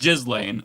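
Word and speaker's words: Ghislaine: I I'm more mature, so I'm going to pronounce her name the way it is. It's just Jiz Lane.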